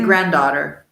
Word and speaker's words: granddaughter: usually granddaughter at least in the u.s. we don't pronounce that D shall we say granddaughter yeah was a rest